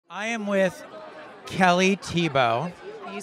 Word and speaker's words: Thiebaud: I am with Kelly Thiebaud.